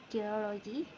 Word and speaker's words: geology: In the base element geo, the stress pattern is not fixed, but when the suffix logy is added, the primary stress shifts to the syllable immediately before the suffix, resulting geology.